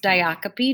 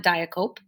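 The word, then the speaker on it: diacope: them diocopy and coma ratio that word is pronounced diocopy not diacop diocopy and como ratio so diocopy is repetition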